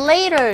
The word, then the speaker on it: later: 여기서 보시면 later 보십시오. A의 모음 소리와 E의 모음 소리가 T가 중간에 껴있어요. 이거 무슨 소리 난다고요? 아래 가까운 소리가 납니다. 지겹게 나오죠? 거의 T 사운드는 원어민들이 하는 걸 꺼려 하는지 아니면 한번 툭 쳐주는 소리 자체도 하기 귀찮아서 안 하는지 모르겠지만 거의 발음을 안 합니다. 그래서 하지만 들리더라도 약하게 들려요. 그래서 이 자체는 later, 영국식